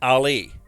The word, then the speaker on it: Ali: GM from his friend Ali pronounced like Ali the boxer there was no confusion